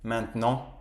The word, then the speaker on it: maintenant: Et maintenant, je viens Maintenant, on ne prononce pas le T.